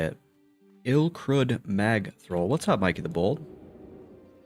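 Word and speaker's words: Ilkrud Magthrull: Ilcrud Mag thrrol. That's how you say it. Ilcrud Mag throw.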